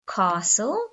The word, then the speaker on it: castle: t or the silent t so we have castle the princess lives in a castle listen i